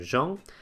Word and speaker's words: Jean: We have a couple of slightly more exceptional cases in the EAN in the name Jean and AON in the word pong, meaning peacock, but these are exceptions that you can learn individually.